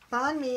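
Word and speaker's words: bánh mì: Bon me is pronounced me as in you and me.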